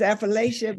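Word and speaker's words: Affrilachia: It depends what side of the mountain you're on. We say Appalachia back home. Appalachia. So if you're on my side of the mountain, it's Afrolatia, but if Okay, interesting.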